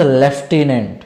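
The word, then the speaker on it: Lieutenant: that the लेफ्टिनेंट governor spelling क्या है एल आई ई यू टी ई एन ए एन टी बट इसका pronunciation आप इसको कैसे प्रोनाउंस करोगे कैसे पढ़ोगे दैट इज लेफ्टिनेंट क्या पढ़ेंगे आप इसको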